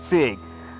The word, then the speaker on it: Sieg: His name is pronounced Sieg.